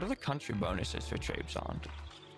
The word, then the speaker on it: Trebizond: What are the country bonuses for Trebizond? Trebizond.